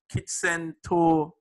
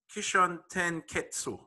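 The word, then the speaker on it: Kishōtenketsu: The hero's journey, Kitsento, I can't remember how to pronounce this thing. Kishon Tenketsu, right? Yeah, that's it, right?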